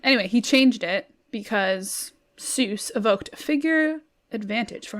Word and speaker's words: Seuss: supposed to be pronounced soice like like rhymes with voice um but he switched